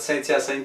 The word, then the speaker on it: Saint-Hyacinthe: Saint-Hyacinthe, Quebec, but Saint-Hyacinthe, Quebec is how we pronounce it here.